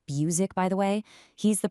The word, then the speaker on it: Buzek: You know, to really set the stage here, Greg Buzek, that's pronounced Buzek, by the way, he's the president of IHL Group, and he put it perfectly.